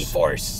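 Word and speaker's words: e-4ORCE: E-Force. E-Force is not spelled like you think it does.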